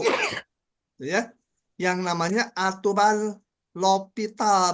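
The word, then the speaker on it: L'Hôpital: ya yang namanya aturan lopital bacanya lopital ada yang nulis di buku l Hospital ada yang l hopital gitu ya beda-beda Ya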